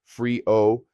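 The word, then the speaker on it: frío: Cold is frio pronounced freeo.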